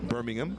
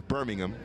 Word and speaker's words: Birmingham: By the way, to differentiate between the city in England and the city in Alabama, the city in England is Birmingham. The city in Alabama is Birmingham. Spelled the same, but different accents and stresses. Birmingham and Birmingham.